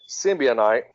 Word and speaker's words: symbiote: It is a long O or a soft O, but a lot of people pronounce it symbiote.